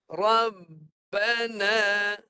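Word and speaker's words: رَبَّنَا: mana nak mati dia Tahan suara suara tahan terus RAB RAB tahan itu yang itu Ba mati ba baris atas ba tu bar atas jadi bacanya begini Rabbana Cuba baca rbana kemudian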